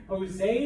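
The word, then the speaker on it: José: Jose it was like Jose with an H let's see let's see if it's up there and it's all right because it's with a gif but all J's sound like an H all right now a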